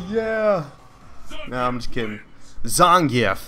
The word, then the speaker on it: Zangief: Oh my god, he just got messed up with Zangorf. Oh yeah. No, I'm just kidding. Zangief, that's how you say it.